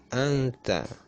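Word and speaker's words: أَنْتَ: Wa ma anta ya, di situ sudah ada warnanya. Wa ma anta, anta ya, nun sukun, nun mati bertemu dengan huruf ta.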